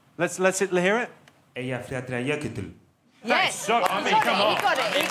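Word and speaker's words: Eyjafjallajökull: How do you think it should be pronounced, Jonathan? Eia faya yokul. Let's hear it. Eia faya yokul.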